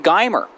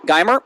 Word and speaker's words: Geimer: And her name is Geimer. Did I pronounce your name right? Yep. Geimer.